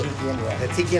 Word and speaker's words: Hatzikin: He's also Hatzikin is how you pronounce that.